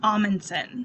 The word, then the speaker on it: Amundsen: And is it pronounced Amundsen? It's Amundsen. Amundsen.